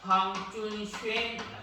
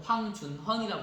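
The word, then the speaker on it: 黃遵憲: 황준쉔이라고 합니다. 발음하기 어렵죠? 한자로는 황준헌이라고 하는데 중국식으로는 황준쉔이라고 한답니다.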